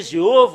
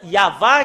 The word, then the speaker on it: Yahvah: Ça a changé Jéhovah ou Yahvé. Normalement, ça doit être Yahva qui doivent prononcer.